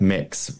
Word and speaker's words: Mx: of say mister and you pronounce it like mix which is like pick